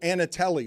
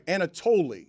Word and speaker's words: Anatoli: if they knew who Anatelli was. I don't even know if I'm pronouncing that correctly because I discovered this person just uh I'm sorry, Anatoli. Anatoli.